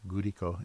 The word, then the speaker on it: Glico: does gurico glico is what it looks like gurico is how they say it in in Japan um I think they're